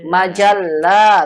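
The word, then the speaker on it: مجلة: buku-buku majalah majalah majalah majalah ingat dipanjangkan minyak lamnya majalah coba ikuti Majalah majlah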